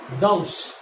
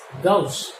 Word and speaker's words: gauche: conformer is named as, the spelling is Gauche. It is pronounced as Gauche. It is Gauche.